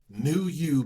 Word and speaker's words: PneuYou: Okay, it's New You, but the way that I spell it is P, N as in Nancy, E as in Edward, U as in Uncle.